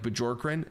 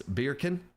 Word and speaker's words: Bjorkren: People say the hard J and they're like Bjorkren, and that's the most common mispronunciation. No. If you say it in like a Swedish dialect, it's Bjorken. The second one was better. Bjorken. There we go. That's the Swedish way to say it, apparently, but the Americanized version is Bjorkren.